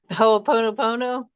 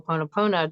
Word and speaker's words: Ho'oponopono: I can pronounce it, but I always screw it up. Ho'oponopono.